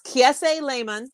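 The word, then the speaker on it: Kiese Laymon: name again so it's ksa layman so it's k-i-e-s-e spoke like key essay layman l-a-y-m-o-n how to kill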